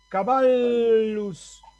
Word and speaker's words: caballus: Ahí no voy a leer caballos o caballos, sino caballus, dos L's, una seguida de la otra, caballus. Vean que acá en latín hay 3 sílabas, porque las consonantes doble, una forma parte de la penúltima y otra forma parte de la última. 3 sílabas. La A de caballus es larga. ¿Por qué? Porque está seguida de 2 consonantes.